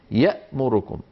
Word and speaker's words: يأمركم: هكذا كانوا يكتبون يأمركم، يعني يكتبونها يامركم وينطقونها يأمركم.